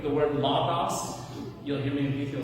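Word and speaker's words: λόγος: And so like the word logos, you'll hear me people say logos, and the way that I was taught was logos. So that O is an O, it's A. So it's not logos, it's logos.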